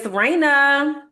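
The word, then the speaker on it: Reina: So Raina is my hair and Raina is spelled R E I N A. Shout out to Raina. And Raina's emoji is the crown because Raina is the Spanish word for queen.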